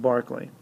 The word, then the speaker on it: Berkeley: named Bishop George Barkley I know it looks like Berkeley but it's pronounced Barkley so Bishop Barkley decided